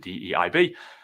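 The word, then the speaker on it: DEIB: in there as well sort of known as DB or how we pronounce it de IB um this is just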